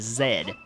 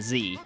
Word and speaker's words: Z: For my fellow Americans out there, be sure to pronounce the trigger button as Z rather than Z if you're reading along, for the interest of making the lyrics rhyme.